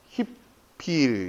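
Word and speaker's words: הִפְעִיל: 물론 현지에 가서 이걸 들어보면 니프알 이렇게 안 하고 니팔 이렇게 하죠. 그 다음에 히필 이렇게 히프일 이렇게 안 한단 말이에요.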